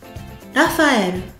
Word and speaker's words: Raphaël: Ensuite, Raphaël sa katakana la f un petit a qui vient faire en sorte que le fu se transforme en fa le la faelle. Raphaël.